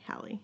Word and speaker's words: Halley: or Hailey and she said like Halle Berry Halle perfect so we got the